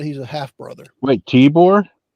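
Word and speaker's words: Tibor: a half brother wait tore t i b o r not like the boore you saw in the woods yeah okay I keep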